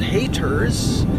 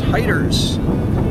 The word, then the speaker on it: Hyder's Gap: We just climbed there was Hyder's Gap, spelled Haters, but pronounced Hyder's.